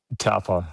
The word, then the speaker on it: Taupō: Taupō Taupō, right.